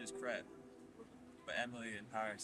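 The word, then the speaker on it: crêpe: Well, the pronunciation is crepe, but Emily in Paris says crepe, so.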